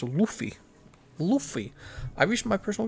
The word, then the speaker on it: Luffy: a little longer maybe two streams guys it's pronounced luffy luffy i reached my personal goals more times